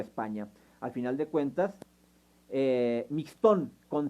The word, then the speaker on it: Mixtón: Pero también se pronuncia Mixtón.